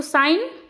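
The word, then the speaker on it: sign: तो साइन ये भी होगा। इसमें भी हम लोग जब साइन बोलते हैं तो जी होता है साइलेंट।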